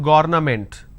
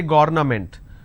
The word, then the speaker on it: government: It's not government. Don't say government. It is government.